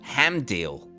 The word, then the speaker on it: Hamdeal: Anyway, it feels like y'all got the last part phonetically, so I'm going to move right along here. Hamdeal. Hamdeal. That's it.